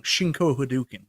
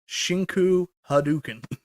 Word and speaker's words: Shinku Hadouken: Shinko Hadouken. That's not really how it's said.